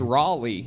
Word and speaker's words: Raleigh: Somebody told me that I was saying it wrong. I was saying Raleigh. That's what I thought it was. Yeah, no, Raleigh. It's Raleigh. Raleigh. You have to say Raleigh like it's some like guy at a truck stop or something.